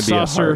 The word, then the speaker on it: sacer: It's gonna be saucer, sacer, either one. Yeah, it's gonna be a hard C because Latin, because it's a Latin name for it.